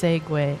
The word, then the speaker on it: segue: Pronounced segue. Oh, segue master.